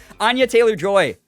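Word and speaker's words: Anya Taylor-Joy: Why did I say that as Anna? Did I say it as Anna, or did I actually pronounce it right? I don't remember now. Anya Taylor Joy.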